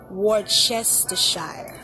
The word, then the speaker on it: Worcestershire: I kept pronouncing it the wrong way. It's Worcestershire sauce.